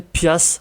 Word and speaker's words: piastre: Piastre, prononcé pias, dollar, argent.